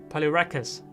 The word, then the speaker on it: Polyrhachis: rustic Poliwrath see Sam he taught me how to say this Holly rat kiss polyrhachis polyrhachis um the reason